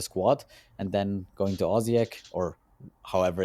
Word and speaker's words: Osijek: I've heard from Osijek to Osijec to Osijek. I've heard it all. We say Osijek.